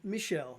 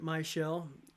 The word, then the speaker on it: Michelle: from uh my shell which is actually michelle name of a girl but michael pronounced it my shell uh michael you can